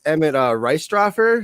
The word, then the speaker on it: Emmett Reistroffer: Our guest today is Emmett Reistroffer. Did I pronounce that right?